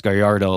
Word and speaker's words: Gallardo: it as well but in the Spanish context of what the name is for gardo you would say it as gardo like a like a y instead of the dou L right uh but what